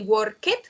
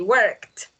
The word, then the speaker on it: worked: please just remember that we usually don't pronounce the e so it's not common to say work it we say worked okay as long as